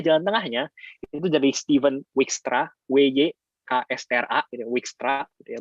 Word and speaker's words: Dijkstra: Ada juga jalan tengahnya, itu dari Stephen Dijkstra, WYKSTRA, gitu, Dijkstra, gitu ya bacanya.